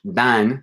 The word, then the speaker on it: dan: Dan, in Spanish, dan starts with a D, and you pronounce that D differently than the D in todos. Okay, and todos is much as a more weaker. It's like a fricative D, and the word dan, it's a stronger D.